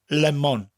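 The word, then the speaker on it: lemwn: slightly pronounced each syllable in English lemon it almost sounds like one syllable but in Welsh lemon lemon you distinctly hear the two separate syllables and they said evenly lemon Oh beer almost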